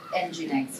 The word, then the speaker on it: Nginx: NGIX. Okay, in Italian we say Nginx also. So it really depends. How do you say it in Britain? Nginx? I thought everyone said it in a different way.